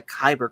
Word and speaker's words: Kyber: the idea for the Kyber crystals as far back as this. Now, admittedly, it's spelled differently. It's spelled Kaiburr, when we all know it as spelled Kyber.